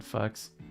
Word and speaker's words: FKS: Maybe it would work on Fux. Oh, that's actually the canonical pronunciation of that acronym for the record.